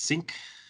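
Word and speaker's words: Synch: have to censor sync it might be sync i think it's sync it's how you pronounce it they spell it weird with a y like that like a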